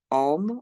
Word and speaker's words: Om: And we're going to today do that through the sound of Om, which actually, when broken down into its syllables, is ah, ooh, and you'll notice each